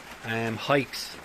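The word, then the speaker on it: Haix: Hikes, I think this is the pronunciation.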